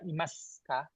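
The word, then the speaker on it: いますか: Nah, pada umumnya tidak dibaca su tapi dibaca Imas kah?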